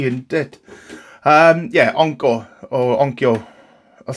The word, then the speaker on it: Onkyo: Onkyo? How you say it, to be honest with you. Onkyo. We'll say Onko, alright? Onko it is, but going really Welshy, isn't it? Yeah, Onko or Onkyo.